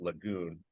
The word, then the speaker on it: Lejeune: as opposed to Camp Lejeune for the Marine Corps which you know has a big statue of uh of John a Lejeune I think they actually pronounced that Lagoon now his family is